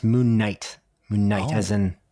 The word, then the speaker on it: Moon Knight: about marvel series yes um and that is moon canite which is the first series sorry first episode